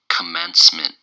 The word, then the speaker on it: commencement: the day is commencement commencement commencement commencement it's three syllables and the stresses on the second syllable commence munn commence met